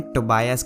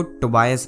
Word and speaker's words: Tobias: तो जैसा कि मैंने तुम्हें बताया कि अलेन टोबायस का बेटा है। देखो, टोबायस प्रोनाउंस किया जाता है, टोबियस नहीं, खुद सुन लो, Tobias.